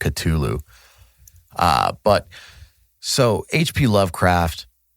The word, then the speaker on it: Cthulhu: HP Lovecraft and very Cthulhu based or Culu, however you want to pronounce it. Um, when I say it in the song, I pronounce it Culu.